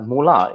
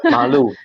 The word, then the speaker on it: Malu: I even said it Mula. It's actually Malu.